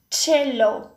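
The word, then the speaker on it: Cello: س إذا جاء مباشرة بعده حرف اي تنطق تشي مثل كلمة تشيلو تشيلو ويعني كمانجة كبيرة.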